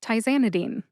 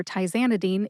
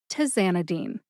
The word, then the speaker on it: tizanidine: However, it's tye, not ti. Tye-ZAN-i-deen, not Tizanidine.